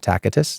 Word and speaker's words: Tacitus: Okay, so read the writings of Josephus and Tacitus, and some people pronounce it Tacitus. It's up to you.